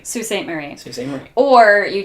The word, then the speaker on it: Sault Ste. Marie: Alright, how do you pronounce this one? Sault Ste. Mary. Sault Ste. Mary. Sault Ste. Marie. Sault Ste. Marie.